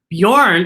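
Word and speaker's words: Björn: has the what sound bjorn is spelled b j and it has a b y bjorn b y sound and highlights h a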